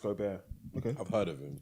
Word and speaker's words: Gobert: beast beast Wow I watched him Rudy Gobert pronounced Gobert he's seven foot two tall great defensive player